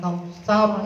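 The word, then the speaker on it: كوثر: Al-Kautsar itu roh yang dibaca sukun. Itu kan kalau berhenti bacanya sukun toh. Inna a'tainakal kautsar itu roh yang dibaca sukun, yang jatuh setelah huruf fathah itu harus dibaca tebal atau tafkhim dalam bahasa tajwid.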